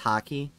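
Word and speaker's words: haki: hockey hockey it basically it's h-a-k-i and it's pronounced hockey it's weird but basically it's when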